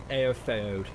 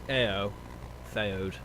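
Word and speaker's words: Éothéod: Aeofeod. Because the E has extra oomph to it because of the line above it. So it's Aeofeod. Like Aeol the Young.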